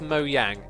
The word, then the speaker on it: Mojang: It's actually pronounced Mojang. You don't say it the way it's pronounced. Like many words, there's quite a few words which say slightly different to how you read it, and Mojang is one of those.